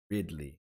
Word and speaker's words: Ridley: So guys, let me know whether or not you rather have Calvin Ridley, Ridley, that's how you say it now, Ridley, Derwin James.